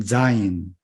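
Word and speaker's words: זַיִן: 됩니다 이렇게 약간 야 현 제트 발음이 납니다 명칭은 자인 우리말로 자인 이렇게 표기해 놓고 오시면 될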